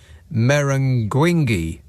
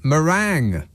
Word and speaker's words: meringue: My brother-in-law once ordered a lemon meringuingue instead of a lemon meringue at an expensive restaurant.